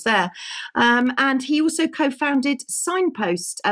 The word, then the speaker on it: Cignpost: And he also co-founded Signpost, which is spelled CIGN, by the way, CIGNPOST, Diagnostics, and he works with the elite in express PCR testing.